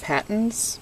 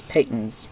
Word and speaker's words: Patons: take a look at Peyton's silk bamboo yarn and some people think it's pronounced patents but it's not it's Peyton's I know I work